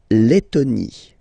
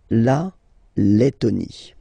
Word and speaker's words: Lettonie: So remember when you get this E and then a double letter like that, T, okay, then you will have to open your E and it will become E, Le, Lettonie.